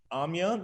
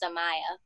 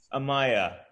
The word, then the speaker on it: Amaya: um yes and also you pronounce my name as amaya amaya yeah my apologies hi